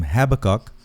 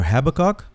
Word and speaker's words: Habakkuk: By the way, I've seen that the name Habakkuk is pronounced two ways, either Habakkuk or Habakkuk.